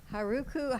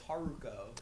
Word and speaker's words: Haruko: Rosenberg from Buffy the Vampire Slayer, Chaos Bleeds, Haruko Haruhara from Fooly Cooley, and you pronounce her name wrong. It's Haruko. Haruko, sorry, from Fooly Cooley, Razor from Aliens in